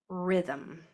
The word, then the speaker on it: rhythm: So you're So instead of the I instead of the I, we're going to use a Y. And then you have a RH at the beginning. Okay. So let's spell our consonants. First we have RH, that silent letter pair, I v.